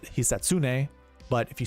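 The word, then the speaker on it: Hisatsune: Uh I know you pronounce it. Heatsune, but if you say it fast enough, it sounds like the assassin.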